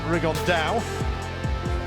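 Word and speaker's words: Rigondeaux: about fighting rigond though or as he's correctly pronounced the Spanish ax rig on Dow and chew up some Geniuses but it could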